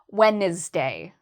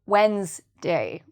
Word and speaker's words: Wednesday: They might actually pronounce it as Wednesday. So they might give it 3 syllables, Wednesday, instead of 2, Wednesday. So the reason this is hard is because of this D.